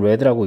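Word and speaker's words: read: 안 되고 어 또 스펠링은 같지만 레드라고 읽습니다 이렇게 p 형태로 쓰시면 안 됩니다 요거는 이제 과거형 과거 과거 분사형는 레 레드라고 해서 발언만 다르고 스펠링은 똑같아요 그리고 실제로 여기 있는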